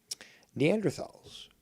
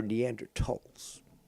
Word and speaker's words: Neanderthal: been made on many neanderthals for example or neanderthalts if you want the proper pronunciation we're nocturnal hominids hominids